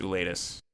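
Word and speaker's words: Gwladus: G W L A D U S and it's pronounced oolletus.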